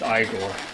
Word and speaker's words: Igor: It's pronounced Igor.